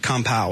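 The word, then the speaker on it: kampai: He he pronounces it compow is what he said.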